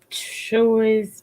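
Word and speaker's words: Chuy's: that they say that c-h-u-y-s I would just say sure is but you know that's that's my pronunciation that's the added version that's the other version so you can um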